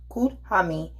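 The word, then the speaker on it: Kuthumi: please comment down below kutami pronounced cool huh me is a sentient master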